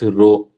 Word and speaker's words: rho: It is denoted by symbol RS or the Greek letter and pronounced as rho.